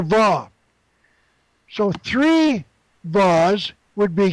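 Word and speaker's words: וָו: now the sixth letter is the Hebrew letter VA I pronounce it V I've seen it also pronounce h a w but I'm going the common one is VA V or VA W VA now the the letter VA is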